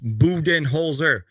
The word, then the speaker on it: Budenholzer: just gave us permission we can say Buton holer but it is pronounced buen holer again just made a